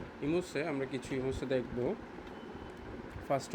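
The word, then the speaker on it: Gemüse: সবজিকে বলা হয় হচ্ছে ইমুসে এখানে জি এর উচ্চারণটা হবে না তো ইমুসে আমরা কিছু ইমুসে দেখব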